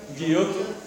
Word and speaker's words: Giotto: Se llama Giotto, pero la G es G, así que Giotto, Cimabue y Giotto. Cimabue y Giotto son los primeros pintores.